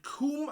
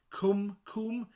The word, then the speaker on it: cwm: And they say it might have come from the Welsh word cwm. Coomb. Yeah, that makes a lot of sense. Coomb means valley in Welsh.